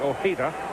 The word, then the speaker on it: Ojeda: He's Spanish, and the literal pronunciation would be Ojeda. But for the general public, I think, and including the New York Mets faithful, it's been Ojeda all the years since he's been there.